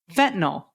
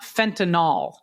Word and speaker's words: fentanyl: It's like saying fentanyl, not fentinol. Fentanyl. Yeah. Um. Yep. Fentanyl. There you go. Fentanyl.